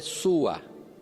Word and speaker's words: Sua: O nome da mulher, segundo uma forma de lei pronunciar a palavra, é Sua. S-U-A.